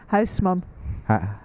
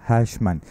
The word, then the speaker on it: Huisman: Did I pronounce it correctly? Huisman. Huisman.